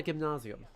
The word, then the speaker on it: gymnasium: know, the school, the European sense, you got to call it a gimnazium. Like you got to use not American pronunciation.